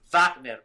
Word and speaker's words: Wagner: It's Vagner, man. It's a German word.